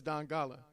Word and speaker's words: Dongala: Today I am sitting with Dongala. Dongala. I guess it's the same. It's just how you say it. I was like, Dongala? You know what I'm saying? But it's Dongala.